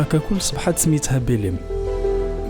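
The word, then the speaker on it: Belém: حاليا المنطقة ككل صبحت سميتها بيليم، بيليم اللي كتعني باللغة العربية بيت لحم، نسبة إلى المدينة الفلسطينية بيت لحم. إدغام حرف التاء وعدم نطق حرف الحاء من طرف البرتغاليين أصبحت بيليم، بيت لحم بيليم.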